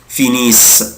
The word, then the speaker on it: finissent: طبعا ils finissent. أنا قلت لك مش بنطق ال ENT.